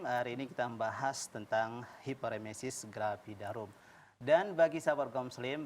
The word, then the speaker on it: hiperemesis gravidarum: Ini, Dok, ada hiperemesis gravidarum. Ini betul, Dok ya, cara pengucapannya? Iya, cara pengucapannya seperti itu.